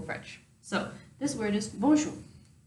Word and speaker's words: bonjour: it looks like this the thing about French is that the last consonants are not usually pronounced I don't know why but that's just how French is I didn't make the